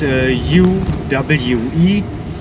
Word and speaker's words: Uwe: It's spelled U-W-E and pronounced Uwe.